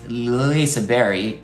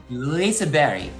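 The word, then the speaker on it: Liseberg: Uh it's pronounced Lisa Berry. I've actually asked a Swedish person to give me actually Lisa but it said Lisa Berry because it's like French like you just touch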